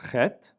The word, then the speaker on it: chet: The next letter is the letter chet, chet, which makes a rough sound, harder for English speakers.